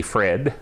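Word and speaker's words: Phred: By the way, his name is spelled P-H-R-E-D, Fred, because as you can tell from his comments, he's a very different fellow.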